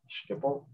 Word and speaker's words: Schiphol: Schiphol. Schiphol. It's the same Schiphol. Combination of letters. So S, C, H, Schiphol, indeed.